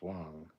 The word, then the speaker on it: Wang: Matt Borman, Garrett Wang is pronounced Wong.